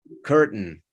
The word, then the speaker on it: curtain: Curtain. Se come totalmente la E ahí.